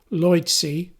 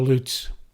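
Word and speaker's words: Leutze: with this painting by Emmanuel Lloyd C the German pronunciation will simply call his name Emmanuel Lutz it's a huge wall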